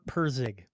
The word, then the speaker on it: Pirsig: Robert Pirsig. I'm probably pronouncing that wrong.